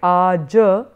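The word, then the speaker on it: आज: as kal, and therefore you have like aja, that in Sanskrit you would pronounce that as aja, but here I've given you only the Roman phonetics, it's pronounced as aj.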